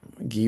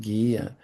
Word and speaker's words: Guy: Guy was my father. In French, you pronounce it Guy. In American, he's Guy.